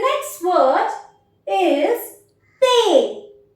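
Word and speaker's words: thé: इज ते ते again I have put a cross below द alphabet H because majority of द time this uh this H alphabet is silent we write this alphabet but वी डू not pronounce it सो द word become ते एंड it means T द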